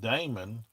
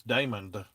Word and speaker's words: Daymond: Why is my name pronounced Damon and the D at the end is silent the way I say it? The way my daddy says it is Damon. He pronounces the D at the end. He always has. It's like Raymond. It's Damon. But I always say Damon.